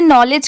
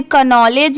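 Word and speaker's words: knowledge: इसे कनॉलेज या किनॉलेज भी पढ़ सकते हैं, बट नहीं, यहाँ पर के लेटर साइलेंट है, इसे सिर्फ इतना पढ़ा जा रहा है NOWLEDGE। इसकी साउंड मतलब इसे सिर्फ प्रोनाउंस इतना ही किया जा रहा है, और के साइलेंट है।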